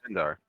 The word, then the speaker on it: Ilindar: The Y is silent in this case, but yes. Ilindar.